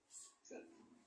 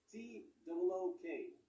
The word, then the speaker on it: took: Took. All right, yes. T-O-O-K. Took. También recuerden que la doble O en inglés se pronuncia generalmente como una U.